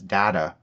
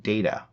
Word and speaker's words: Data: She saw him in no more than a machine, pronouncing his name as Data rather than Data, and did not understand that, as Data pointed out, one is my name, the other is not.